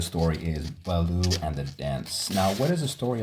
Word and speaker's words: Daens: I'm sorry, Bahloo and the Danes. So here we have Bahloo and the Danes. I'm sorry, Bahloo and the Daens.